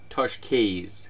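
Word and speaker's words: Tosches: of Dreams by Nick Toshkes, which I think I'm pronouncing correctly. It's Italian, and I just looked it up.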